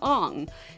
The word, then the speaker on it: Aang: Aang became Ong.